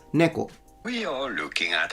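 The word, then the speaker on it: 猫: However, it's neko, not neko. Like he puts a little tsu, like a doubling of the K. That's incorrect. It's neko.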